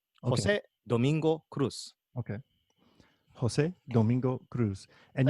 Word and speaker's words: Cruz: Yeah, it's not a Z. It's the Cruz is an S sound in Spanish, and the Jose that